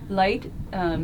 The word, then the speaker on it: LEYT: soon hi everyone so light is spelled le YT it is the same word that we use every day the word light but it's actually the